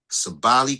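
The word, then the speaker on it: Sabally: Has Sabali played yet?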